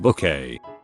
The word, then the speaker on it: Bucket: that there is a mrs bucket type person in real life that we all knew sorry it's pronounced book a lol i love that